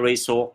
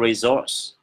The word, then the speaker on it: resource: Các anh chị có thể đọc là resource nếu đọc theo kiểu Anh ha, resource.